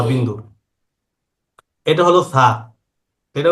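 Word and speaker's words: ث: এটা হলো সা। এটা উচ্চারণ করতে হবে জিহ্বার আগাটাকে লাগাতে হবে দুই দাঁতের আগাতে, এইভাবে। জিহ্বার আগাটাকে উপরের দুই দাঁতের আগাতে লাগাতে হবে এভাবে।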